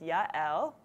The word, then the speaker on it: Yael: My first name is Yael, two syllables. Yael. I know it's a little bit difficult. People call me Yael, Yael, Yael, a lot of different things, but it's Yael.